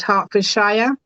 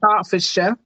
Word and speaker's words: Hertfordshire: a little giggle there because um you said hartfordshire um we say Harford um so just in the pronunciation and I actually retired in 2018 so